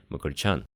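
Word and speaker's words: Մկրտչյան: Но на самом деле они разбиваются в речи звуком «мыкртич», поэтому и образованная от этого имени армянская фамилия произносится отнюдь не так резко, как мы привыкли – «мыкрчан».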